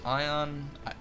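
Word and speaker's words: Aion: is, I believe it's Ion. I get Ion and Rift mixed up a lot because I played both only very briefly, but I believe it's Ion, or Aeon, however you want to pronounce it.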